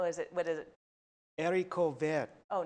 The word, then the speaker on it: haricot vert: I looked up how to pronounce. Oh, and how is it? I think you said haricot verts. And how is it? What is it? Haricot vert.